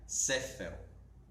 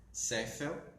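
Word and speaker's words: ספל: E as outras 3 letras, que é a letra Samek, P e Lamed, forma a palavra taça, que em hebraico se pronuncia Sefel. Sefel, que é taça.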